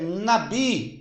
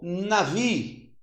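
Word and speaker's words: נביא: Agora, no hebraico, é nabi ou navi. Pode ser tanto nabi como navi.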